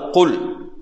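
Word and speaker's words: قل: அப்ப நாங்க இந்த எழுத்தை உச்சரிக்கும் போது காஃப் எப்படி உச்சரிக்கணும் காஃப் அதாவது குல் குல் என்று சொல்லணும் குல் புரியுதா குல் என்றால் தான்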